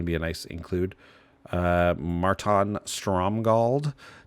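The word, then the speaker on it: Márton Stromgald: creature, other than it's like there's an accent on the A. Marton Stromgald. Whenever it blocks, other blocking creatures get +1/+1.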